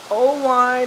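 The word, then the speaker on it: Oelwein: owing iowa yes i'll spell it for you oh wine is spelled o-e-l-w-e-i-n only town united states of america no no no no no oh wine iowa those of you who might live close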